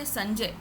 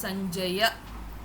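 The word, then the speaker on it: सञ्जय: You won't you cannot say Sanjay. It is Sanjaya or Sanjaya.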